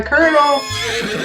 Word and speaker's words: colonel: or good oh my colonel have at the Cornell colonel hey Google how do you pronounce co l OE do that's pronounced Colonel come on so I